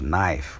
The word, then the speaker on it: knife: their spellings a good example is knife we don't when we write we start writing with k but when we read we read up starting from n and just